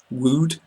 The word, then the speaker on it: wood: a good example wood and then the double O is like that wood shoes good o o and there below that there are other words good the same as would and it Rhymes also with other words like should and could so I hope that